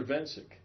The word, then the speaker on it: Cirkvencic: game so see how do you say your last name sir been sick hey guys how did you draw the K is silent the K is silent